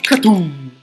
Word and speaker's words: Cthulhu: Che poi non si dice Cthulhu, ma non è un ritmo, si dice Katum. Perché lo dice il panda, quindi Katum, vabbè.